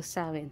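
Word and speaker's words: Samhain: sa mga ah nagce-celebrate ng samain Paano ba bigkasin yit saen so sawin so sa mga nagce-celebrate ng sawin happy sawin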